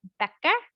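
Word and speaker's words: Bäcker: Okay, well, keep in mind, I am not a native speaker, but A, umlaut you see in the word Becker, so baker. So that's often pronounced as a short E.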